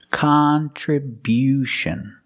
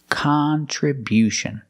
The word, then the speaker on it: contribution: this word is contribution we change the stress to the first and third syllable contribution contribution the first and third syllable stress the first and third syllable contribution and because we stress the first syllable the sound changes it's not it's not the short sound it's Khan Khan we use the short ah sound like hot and stop con contribution the other